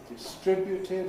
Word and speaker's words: distribute: Distributed about your person. With a fall again. Low fall on person. Distributed about your person. The verbs distribute and contribute are sometimes pronounced with a different stress pattern.